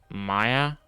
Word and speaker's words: Mia: It's M-I-A, Mia. I guess it's Maya.